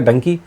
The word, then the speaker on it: Dunki: इसको अगर कहे तो यह डंकी ही है गधा लेकिन उसको प्रोनंसिएशन के तौर पर जैसे लोग उच्चारण करते हैं उस उस तौर पर डंकी रखा गया आमतौर पर ये